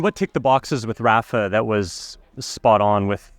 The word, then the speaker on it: Rapha: really easy to pronounce although in the US you still call it Rafa with far too many A's but anyway it's fairly